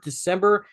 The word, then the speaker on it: Dismember: You said it wrong, though. Did I say it wrong? You said November December. Dismember. You're not the first. Dismember. It took me a November while. Dismember.